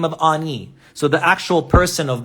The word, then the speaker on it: Ani: the transliteration first so his name is ah right and he has two y's like that so ani that's his name and we say in english on e his name is written